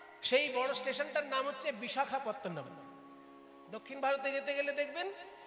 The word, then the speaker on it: বিশাখাপত্তনম: বিশাখা, বিশাখা নয়, ক্ষয়ে আকার হবে না, শুধু খ।